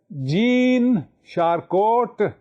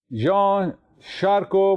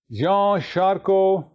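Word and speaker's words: Jean Charcot: a r c o the T at the end is silent Jean sharco was born in 1825 and he died in 1893 Jean sharo had used hypnotism in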